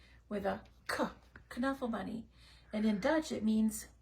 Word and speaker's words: Knuffle Bunny: author mobile homes says it's supposed to be pronounced the Dutch way with a kunafa bunny and in Dutch it